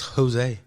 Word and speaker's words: Jose: So what kind of ways do they mispronounce it? Because Jose, it's Jose.